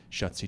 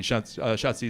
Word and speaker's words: Schatzi: Schatzi is German for darling. It's the first German word I learned. It's easy to remember because it rhymes with Nazi.